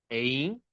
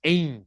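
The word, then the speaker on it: אין: Nada, Ein, nada.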